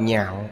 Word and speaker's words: nhạo: Chữ này đọc thành thứ tư, đọc nhạo là yêu thích, nếu đọc lạc là vui thích. Đây là chữ phá âm. Ở đây đọc là nhạo.